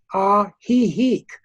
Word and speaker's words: Ajijic: It's the way it's spelled is Ajijic, but the way it's pronounced is like a laugh. Ajijic.